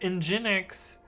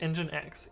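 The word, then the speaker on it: nginx: which world you're in he goes says i just pronounced it ingenix until i read it specifically just engine x yes iphone n was i used to pronounce it as njinx i see kamiko says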